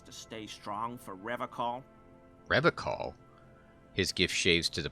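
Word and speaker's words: Revachol: He pronounces Revocol with a hard K, unlike other. Yeah, we get to notice it. You said Revocol? I like to pronounce it the hard way, the old way, the Vespertine way.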